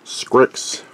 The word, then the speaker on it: Scrikss: congratulations so the name of the pen is scripts and it's spelled s-c-r-i-k-s-s it's a new one at least